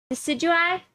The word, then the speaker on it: Decidueye: you smash uh how do you say this decidueye that's it thank you smash you pass okay